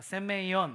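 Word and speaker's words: σημεῖον: 표적이란 하은 히브리어로는 트라고 합니다 따라해 보실까요 오트 발음이 좋으십니다 헬라어로는 세메이온이라고 합니다 해보실까요 세메이온 메 놀랍지 않습니까 장로교회는 3개국어를 할 수 있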